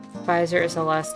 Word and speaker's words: Pfizer: a invention pfizer is the last name i'm assuming the german origin because that thing where they have a silent p in front of a nap that